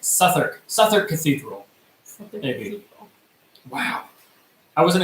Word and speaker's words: Southwark: wrong south work awkward yeah we went to southward Cathedral but never heard anyone safe that's what